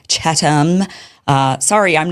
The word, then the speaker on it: Chatham: He makes fun of my Yesterday I was saying Chatham House rules. Apparently it's Chattam.